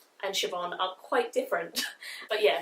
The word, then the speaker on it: Siobhan: This is a book that was started by Siobhan Dowd. So thank you whoever told me how to pronounce this, because Siobhan and Siobhan are quite different.